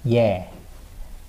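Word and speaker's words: ㅖ: And we have 예. And it's pronounced as, it's written as Y-E. And it's written, it's pronounced as, like that, yeah.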